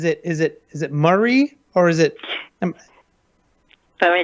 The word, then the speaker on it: Mari: and pronouncing my name it's mari mari okay calamari mar there we go okay